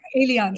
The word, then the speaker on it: Elian: Elian. So this is how we pronounce her name. I was sorry, I was pronouncing it wrongly.